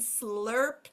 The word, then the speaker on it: slur: they would have um what it sounds like it sounds like r as in car sounds like or as in corn and then these three would be all they all sound like Earth so remember the brackets